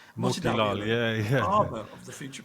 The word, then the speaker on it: Motilal: Motidal, is that the right pronunciation? Motilal, yeah.